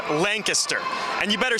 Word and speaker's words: Lancaster: It's pronounced Lancaster.